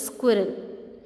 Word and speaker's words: squirrel: poem is will yes it is not spiral it is squirrel and the spelling Spelling's are yes Q you I double are al this is the right spelling and right pronunciation of the word squirrel it is one of